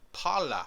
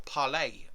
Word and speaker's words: Parler: Gab channel down below, and also Parler, or Parlay I think it's pronounced.